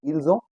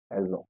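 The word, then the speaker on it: ils ont: the sound becom Z and I will say elzo because o starts with again Vel o n t the pronunciation is oo ELO so let's practice let's repat after me so J and elzo you got it so this is how the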